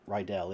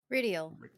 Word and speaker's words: Ridial: It's not Rydell. It's Ridial. Ridial. My apologies, Ridial. 3 vowels, 3 syllables.